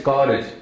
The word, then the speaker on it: Karaj: So the word is Karaj. It's a Ka and then Raj, Rara and Jaja. But unfortunately, if you see K-A-R-A-J, you can mispronounce that and say Anand Kaaraj.